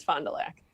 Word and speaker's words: Fond du Lac: They are located in Fond du Lac, Wisconsin, or Fond du Lac. I never know how to pronounce that. Fond du Lac.